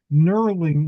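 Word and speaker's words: knurling: shared tonight was that nurling in case anybody wants to look it up has a silent K at the beginning.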